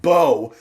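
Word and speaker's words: Mbow: It's It says it's Embo right here. That's what it looks like, but it's pronounced Bo.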